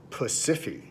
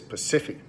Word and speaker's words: Pasiphae: I'll do my pronunciation here. Pasiphae. It feels wrong, but that's what it is. Pasiphae.